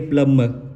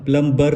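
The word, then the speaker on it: plumber: बी ई आर प्लम इसको हम पढ़ेंगे प्लम प्लम प्लबर नहीं पढ़ेंगे प्लंबर प्लंबर हम पढ़ेंगे वो गलत हो जाएगा इसका क्या हो जाएगा प्लम प्लम ये जो ब है वो निकल जाएगा वो साइलेंट हो जाएगा तो इस तरह के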